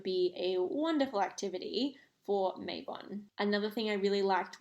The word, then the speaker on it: Mabon: I could say on Mayon um or Mayon is technically how I think it's pronounced um it actually stems